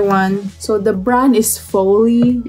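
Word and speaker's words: Folly: so the brand is foley f-o-l-l-y fully no i don't think it's fully i think it's foley fire see my pronunciation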